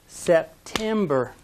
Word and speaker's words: September: of the word august listen carefully to this next one september ah which syllable is stressed if you said the second one you're right september september say it after